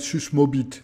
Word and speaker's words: Susmåbit: Euh c'est un En fin de compte, c'est parce que ce n'est pas un A, mais c'est une lettre qui doit être prononcée comme un O. Donc en fin de compte, ça devrait être susmobit, ce qui est déjà un peu moins rigolo.